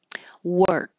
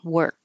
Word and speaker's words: work: way is nuclear nuclear work again it looks like o r but sounds like e r and the K will just hold in that position work and Inspector Inspector looks